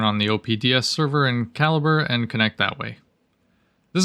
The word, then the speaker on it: Calibre: Well, I'm using Calibre, which if you're like me, you probably pronounced it Calibri or Calibre. But, no, apparently according to their website, it's Calibre.